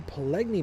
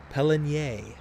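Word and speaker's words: Pallegney: same issue with the pgy map uh or no it's not pgy I got to stop that pelier pel is the proper pronunciation and there was a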